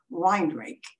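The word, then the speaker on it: Weinrich: name was w-e-i-n-r-i-c-h and we always pronounced it wine rake but i don't think that's the way it would be pronounced in german but there's also a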